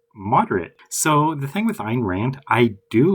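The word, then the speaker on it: Ayn Rand: Next is Ein Rand. Not Anne Rand. This is probably one of the few names I actually like think I know how to pronounce correctly. A lot of people incorrectly pronounce it.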